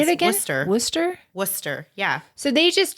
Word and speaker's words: Worcester: was actually born here it's actually Worcester which doesn't even make sense because Sor no that's it that's how you say it and I was